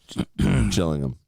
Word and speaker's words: Gillingham: and that is Gillingham Gillingham you mean the gills even though it's they call them jills yeah I hate I hate jilling them Gilling them finally The